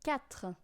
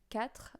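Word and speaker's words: quatre: and then we have cat which is hard to say as well cat um if you know the name Kine Kine you know you take off the in and goes cat that's all then we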